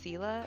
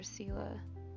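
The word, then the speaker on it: Scylla: in like the story of i think it's pronounced sila and i think she shows up in the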